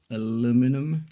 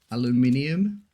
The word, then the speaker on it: aluminium: America or the UK like aluminum versus aluminium like there's an extra I and U or extra dry